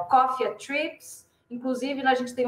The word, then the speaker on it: Coffea: Para quem quiser ouvir meus podcasts, então é o Portal Cofia. Aqui, ó, se escreve COFFEA.